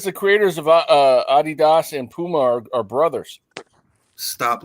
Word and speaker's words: Adidas: that you know well that's like Adidas we call Adidas Adidas here in America but in German it's a German brand it's called Adidas there arida y'all never would